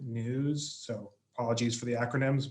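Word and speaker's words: NWSS: national wastewater surveillance system wss we pronounce it news so apologies for the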